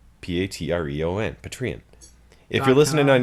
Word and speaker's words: Patreon: If you're yeah, Patreon. That's how it's spelled. Patreon.